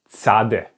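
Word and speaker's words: צדי: So the next consonant looks a little bit strange, okay, and it's called tzade.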